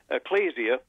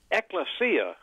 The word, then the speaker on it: Ecclesia: Ecclesia College everyone is calling it Ecclesia and I think they're going because of the ecclesiaste the book in the Bible and uh that everyone thinks that's it eklesia is really the way they pronounce it in eklesia in Greek means assembly of Christians okay and so that's